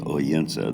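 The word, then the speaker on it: Odense: right in the center here is oena that is spelled with a d really a good place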